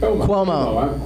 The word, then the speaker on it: Cuomo: Andrew Cumio? How do you say it? Cuomo.